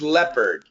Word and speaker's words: leopard: Lenard Leonard Leonard Leonard this is leopard leopard leopard it's the same thing but just P leopard leopard this is as